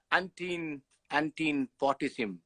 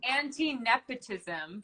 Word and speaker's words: Anti-nepotism: Anyway, Antine Portissim says, please say my name. Anti-nepotism. Oh, right. Shit. Anti-nepotism. Can you read? Oh my God, I'm such an idiot. Anti-nepotism, as opposed to anti-potism.